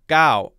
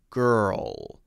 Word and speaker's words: girl: hear g-o-w gao why there needs to be more of an r there right we have to have er the tongue needs to roll up and then there has to be an l at the end and your tongue should stay in the l position at the end girl girl girl god i thought she